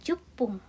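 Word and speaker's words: じゅっぷん: Dan untuk 10-nya ya, ju-nya tidak panjang tapi pakainya tsu kecil, pakai konsonan berganda. Jadi jupung.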